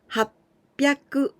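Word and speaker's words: はっぴゃく: this was also the other irregular one the pronunciation has sinned with jump sung sin and also 800 it was irregular happy aku with jump sound and piaku so hassen happy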